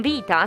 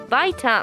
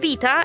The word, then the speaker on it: Vita: We have Tanya Bradley on banjo and Danielle is written Vita, so Vita maybe in English, but vita in Italian is life. Vita, pronounced like this.